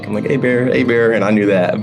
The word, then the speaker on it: Hébert: And I said it right because I'm from Louisiana, so it's Hébert for anyone who says Herbert. Because I know I've seen interviews with you where people have said Herbert, and I'm like Hébert, Hébert, and I knew that.